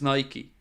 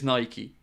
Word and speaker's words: Nike: spelled Nike not Nike no no the correct pronunciation 100% is Nike you can apologize to me later buddy but the correct pronunciation is Nike I mix between the two depending on the